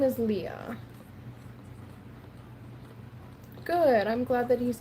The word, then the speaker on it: Lea: L E A is how you spell my name, but uh Leah is just how it's said. Otherwise, I mean Lee is fine, too.